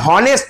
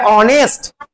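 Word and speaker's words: honest: এইচ দিয়ে শুরু হলেও আমরা এইচ গুলোকে বাদ দিব।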